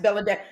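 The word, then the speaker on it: Belle-A: B E L L E hyphen A pronounced Bellad like that girl Ladasha.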